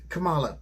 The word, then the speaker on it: Kamala: do you say that what kangaroo no it's kamala kamala kamala that's right